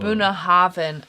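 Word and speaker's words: Bunnahabhain: DH is a hard TH. BH is the V. Boom. Boonhaven.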